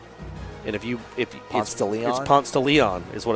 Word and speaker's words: Ponce de Leon: it's called in atlanta so if you wanted to pronounce it correctly constantly all they'd be like I don't know man that's Ponce no more most people just call it ponts but it's ponce de leon and my mom from